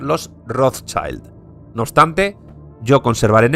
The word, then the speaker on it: Rothschild: través de Nathan meer pasa a ser pronunciada en inglés y de rothchild pasan a ser los rothchild no obstante yo conservaré